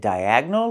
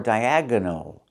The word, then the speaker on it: diagonal: Well, is it diagonal or diagonal? Both pronunciations are correct, but I prefer diagonal. Diagonal. I make it three syllables.